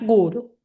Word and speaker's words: guru: dijimos, por ejemplo, como les dije antes, en la palabra guru siempre acentuamos en la primera porque es una de dos, como es una palabra de dos sílabas, en la última nunca se va eh se va a acentuar, vamos a llevarle la intensidad a la primer sílaba, sería guru.